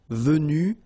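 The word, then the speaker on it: vues: Yes, it's that uh you you don't pronounce them. So basically you've get the pronunciation vu vu and then the same thing vu you don't pronounce this final uh vu you don't pronounce the final s v you don't pronounce the final s e either same thing here v and same thing here vu you don't pronounce s. So phonetically, you only have one way to pronounce it.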